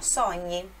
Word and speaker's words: sogni: Sonho, sonho, quase a mesma pronúncia, só que esse som que nós conhecemos, que no português é NH, no italiano é GN.